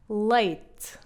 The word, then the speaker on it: leite: Não abram as vogais. Em português europeu, na verdade, nós temos uma tendência para fechar mais as vogais. Portanto, quando dizemos esta palavra, dizemos-la assim: leite, leite. O E do final quase que desaparece.